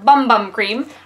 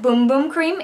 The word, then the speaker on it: Bum Bum Cream: Anyways, okay, the Brazilian Boom Boom Cream or Bum Bum Cream. I actually have heard that Boom Boom Cream is the correct way to pronounce it.